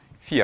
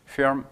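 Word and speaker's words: фирма: Alors, faites attention de pas prononcer le a plein puisqu'il est en dehors de l'accent tonique. Il est en position at firma. Le A ne va se prononcer A que quand il est sous l'accentonique, sinon il va s'altérer. Firme.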